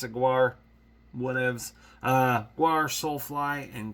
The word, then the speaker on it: Gwar: More people pronounce it Gore. I pronounce it Gwar.